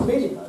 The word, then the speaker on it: Mei Yu: So it's very similar to Chinese Mei Yu, beautiful lady.